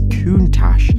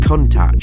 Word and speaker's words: Countach: right this entire video is Countach nice and elegant not contact for obvious reasons you